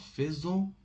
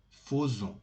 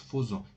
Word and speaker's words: faisons: So faire, but in here this is an exception. This is an exception. Instead of faisons, you must tell faisons. It is pronounced faisons. Nous faisons. Don't say faisons.